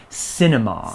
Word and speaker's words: cinema: that starts with c it is although it's a soft c we call it the cinema cinema okay i think it's an